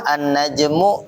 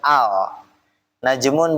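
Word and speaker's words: النجم: Jadi pada saat alif lam syamsiyah dibacanya bukan al najmun bukan alnajmu gitu ya. Dan seterusnya untuk semua alif lam syamsiyah harus ditasydidkan ada tasydidnya gitu.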